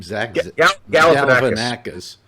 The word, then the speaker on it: Galifianakis: So far as television is concerned, the new Zach, how do you pronounce his name? Zach Galifianakis.